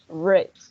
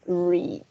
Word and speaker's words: read: Sí, en el pasado va a sonar red, como el color rojo, red. Pero si es presente, read, con una I.